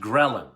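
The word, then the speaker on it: ghrelin: okay gin yeah I think it's spelled it's pronounced gin leptin and G they're the opposite your body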